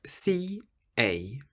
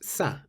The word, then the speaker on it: ça: The little squiggle underneath the letter C is called a cedilla, and all it does is tell you to pronounce the C like an S. That's why ça is pronounced ça and not ca.